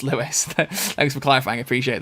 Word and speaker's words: Lewis: love it time heist lewis not louis he's just put that at the end my name is pronounced lewis thanks for clarifying i